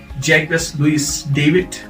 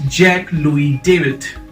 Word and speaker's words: Jacques-Louis David: another you know artist uh how do you pronounce this jackass jacquez louise david no it's jack louie david jack louie david then we have these uh